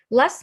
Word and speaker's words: last: Usually, we don't pronounce t and d at the end of the word. It's silent. Have a look. Last Monday, last weekend, last day, last year, oh, last day, that's bad. Last month, last year, last weekend. So I don't pronounce t at all.